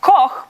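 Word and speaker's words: Koch: My last name is K O C H. It's meant to be pronounced coke, but if you're living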